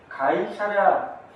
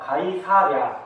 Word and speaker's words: 가이사랴: 자, 누가는이 고넬리오에 대해서 설명하기를 가이샤랴 아 가이사랴 아 저희 발음이 꼬이는데 가이사랴입니다.